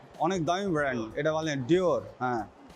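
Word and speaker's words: Dior: এখানে একটা ডিওর উচ্চারণই করতে পারতেছি না। অনেক দামি ব্র্যান্ড। এটা বলেন ডিওর।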